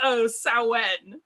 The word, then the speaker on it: Samhain: That just means you learned how to pronounce it from reading, which is never bad. Yeah, it's Samhain, but I won't bust your butt for calling it Samhain.